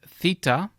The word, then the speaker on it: Theta: meat then we have Theta and it's going to be pronounced like the th in thin now the Delta and